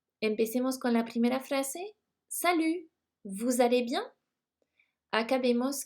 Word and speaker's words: salut: Y este saludo sería salut. Salut se escribe S-A-L-U-T y acuérdense de que la T final no se pronuncia en francés.